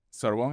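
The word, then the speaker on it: Sorbonne: 3, que es este Panón y Sorbón, así se pronuncia. Sorbón, este, gracias por el francés.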